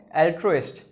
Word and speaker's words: altruist: Part of speech है noun and pronunciation है एल्ट्रोइस्ट।